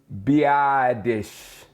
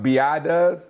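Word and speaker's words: Biadasz: It's just gonna be Biadish. No, that's not right. Badish, dish, biadish, dish. I gotta hear somebody else do it. Biadas, biadas. That's what it's pronounced. It's pronounced biadas.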